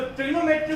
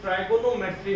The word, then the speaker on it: trigonometry: उससे पहले मैं आपको पहले बता देता हूँ कि हम जो वर्ड बोलते हैं ट्रिग्नोमेट्री, लेकिन अगर इसको सही तरह से प्रोनाउंस किया जाता है तो ये ट्राइगोनोमेट्री होता है।